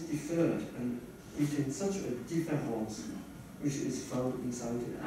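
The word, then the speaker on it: différance: Both words are in French pronounced identically, and the inaudible difference between them is visible only when they are written.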